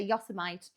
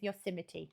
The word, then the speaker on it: Yosemite: It looks like it should say Yosemite.